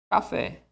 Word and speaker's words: café: Onde é a sílaba tônica? Aqui. Café.